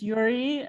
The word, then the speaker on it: Yurij: Joining us from the East Coast is Yurij. Am I pronouncing Yuri correctly? Yes, silent J.